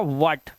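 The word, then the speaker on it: what: अगर आपको डब्ल्यू एच के बाद आई, ए और ई मिलता है तो एच को साइलेंट कर देना।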